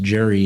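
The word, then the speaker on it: Gerry: Although Gary's name is pronounced Jerry and Jerrymander, so who can say?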